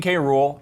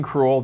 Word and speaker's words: K. Rool: The big, huge announcement was, of course, King K. Rool, or King Cruel, depending on how you want to pronounce it.